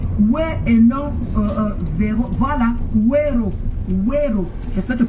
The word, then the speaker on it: Wero: Voilà, Wero. Wero. J'espère que tu prononces bien la Rosita.